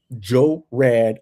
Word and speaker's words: Gerard: every syllable. Joe Rad.